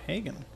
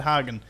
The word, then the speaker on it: Hagen: under instit Authority Fort Hagen so I have been pronouncing it right this whole time except when I said haggan and everyone got annoyed about that it was funny though